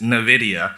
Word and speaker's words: Nvidia: I remember you were like, "It's Nvidia." Yeah. Nidia, like the computer company or, you know, there's